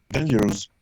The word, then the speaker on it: dangerous: 90% de las palabras que tienen OU, tú deberías pronunciarlas como la E. A ver, un error común. ¿Cómo se dice peligroso en English? Dangerous. Yeah, acá, ¿qué te dije? La O con la U suenan como E.